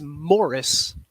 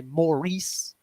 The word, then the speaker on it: Maurice: set the record straight real quick it is Morris I don't know why I'm going places and they're calling me morrice I know that that's a way to pronounce